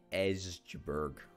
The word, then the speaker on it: Joburg: recruit as many as we possibly can in Joburg yeah that's the proper pronunciation I will have you know and let's